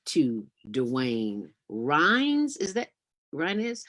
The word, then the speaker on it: Ryines: Is that Ryines? How do you pronounce it? Ryines. Right. Say it again. Dwayne Ryines. Ryines, Dwayne Ryines, just like it sounds, but with a Y.